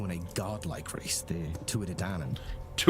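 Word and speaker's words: Tuatha Dé: A time when a godlike race, the Tuadan, Touadan. Okay, that's the proper pronunciation.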